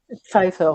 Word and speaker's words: Pfeiffer: Déjà, est-ce que je prononce bien Pfeiffer, c'est ça? Pfeiffer, oui, c'est exactement ça.